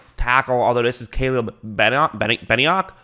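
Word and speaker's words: Benenoch: although this is caleb beniock right here benioc i believe is how you say his name uh he used to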